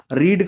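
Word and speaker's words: read: flu flow ठीक है रीड का सेम रीड का रीड रीड का यहां पर रीड नहीं बोला जाए इसको रेड बोलेंगे रेड रेड स्पेलिंग सेम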